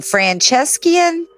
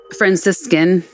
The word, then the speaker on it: Franciscan: Francescian. Franciscan.